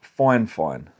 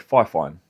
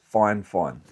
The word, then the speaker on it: FIFINE: I've been told that it's pronounced FIFINE. Now, I would have said FIFINE, because there's no N, there's no E, but they have told me it's FIFINE.